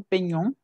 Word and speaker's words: peignons: Rappelez-vous que la G y la N se pronuncian ñ en español. Por eso es peñó, peñé, pañé. La GN es una ñ.